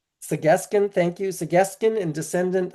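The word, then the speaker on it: Tsq'escen: So I'm going to ask you to pronounce that properly so I don't mispronounce it, Julian. Segeskin. Segeskin, thank you.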